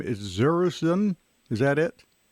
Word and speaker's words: Zerruzen: us now Matt, Matt, I'm maybe going to mispronounce this name. Is Zerruzen? Is that it? Zerruzen, yeah.